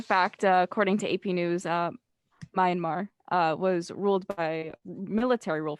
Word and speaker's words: Myanmar: I'm not sure of the exact date, and correction, I think I pronounced Myanmar wrong. That's how you say it, Myanmar.